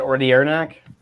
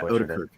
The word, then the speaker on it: Odenkirk: Is that Ordiernak? What's that? Is that how you say his name? Ordiernak or whatever it is? Oh, I Bob from, isn't that Better Call Saul? Odenkirk. Oh, Bob Odenkirk. Odenkirk, is that how you say it? Yeah, Odenkirk.